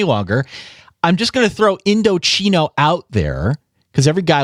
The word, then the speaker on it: Indochino: When I first read this many moons ago, I pronounced it Indochino on the very first time that I read this. And then from that point forward, they sent over a handy little pronunciation guide. So now it's Indochino. They have chi, CHEE in all caps here so that I don't screw it up.